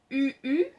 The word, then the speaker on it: UHU: La colle, s'il vous plaît, utilisez de la colle en bâton ou bien de la colle en bâton UU qui s'écrit UHU.